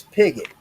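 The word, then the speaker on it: Pigott: My last name is Pigot. It is spelled P I G O T T.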